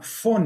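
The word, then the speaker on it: Phyn: algunos alumnos es una empresa que se llama font y se escribe p h y n y es un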